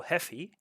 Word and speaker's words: Haffey: Yeah, just full E pronunciation.